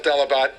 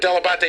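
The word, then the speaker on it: Dell'Abate: delebate no my friend my father always called himself delabot delebate and he said that he just americanized it but della batte is in fact the proper pronunciation so when did your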